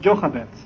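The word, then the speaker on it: Jochebed: bible will tell us that her name is joe hobbit it's pronounced joe hobbits and her name joe hobbit in hebrew means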